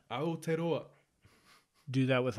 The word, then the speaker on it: Aotearoa: I've seen people like Aotearoa do that with like chickens.